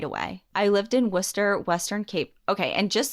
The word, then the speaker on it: Worcester: in Mass okay and it looks visually like Worchester I don't know how it's pronounced but in Mass we say Worcester it's Worcester it has to be I